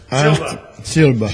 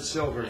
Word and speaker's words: Silva: Silva. You pronounced it like him. Yeah, I know. He has me doing it now. What? Pronouncing it wrong. Yeah. I called her Astrid Silver.